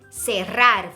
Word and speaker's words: cerrar: Cerrar, for example, the verb cerrar, C-E would be se.